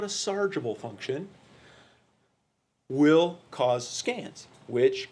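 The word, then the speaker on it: sargable: sergeable and so I say sergeable it's correctly pronounced I am told sargible okay chargeable functions let's take a look at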